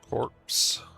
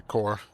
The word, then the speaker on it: corps: Corpse. Yeah, core. I pronounce it corpse, so I'd spell it correctly, but yeah, this is going to be the Setsuna core.